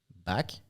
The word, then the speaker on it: BAAK: And for us in French, back, B-A-A-K, and back, B-A-C-K, it's pronounced the same.